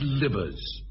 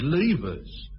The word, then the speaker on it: Livers: Livers. Well, that's how you spell it, but she said Levers.